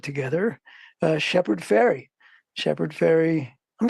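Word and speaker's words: Fairey: right right it's not it's it sounds like sounds like the goes across the yeah yeah people always want to say Farley faray I'm like no no it's just like too just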